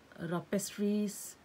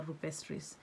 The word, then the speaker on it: rupestris: Crassula is like big collection, and then rapestris is it's this variety. Crassula rapestris or rupestris. They pronounce sometimes O and sometimes U, the RU.